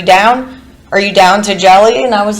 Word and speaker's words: Jellie: Are you down to jelly?" And I was like, "You could call me Jelly." I actually kind of like that name. And it rhymes with Kelly.